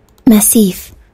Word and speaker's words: massif: then we're going to find if we pronouncing it right Massif it's a Massif it's a compact group